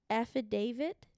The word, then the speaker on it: affidavit: birth him um I don't know this word affidavit okay is that correct yes that is is